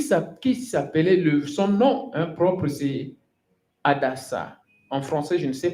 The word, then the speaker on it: Hadassah: Mardochée ici a pris maintenant Esther, qui s'appelait, son nom propre, c'est Hadassah. En français, je ne sais pas. En anglais, ici, je le prononce en anglais.